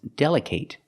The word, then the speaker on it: delicate: you cannot say delicate it's pronounced delicate delicate the last syllable is a short sound it it it delicate because delicate is an adjective it's not a verb that's why we pronounce it like that delicate clothes and I've